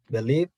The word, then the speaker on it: believe: Believe. E, right? All the way to E.